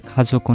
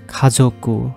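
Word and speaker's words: 家族: ーの名前、日本語で家族のメンバーの名前は覚えました。 Family. Family in Japanese is 家族。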